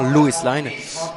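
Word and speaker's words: Luas Line: Et donc Lois Line, on prononce bien Lois Line. Sachez-le que c'est la ligne de tram, oui, voilà, à Dublin.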